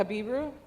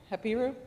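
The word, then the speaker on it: Habiru: He habibu hepiru. There's a couple different ways to pronounce it.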